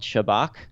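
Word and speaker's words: Shabak: which is also called shabbach which is what the how they pronounce the acronym in Hebrew I guess uh but shabbach is called the Unseen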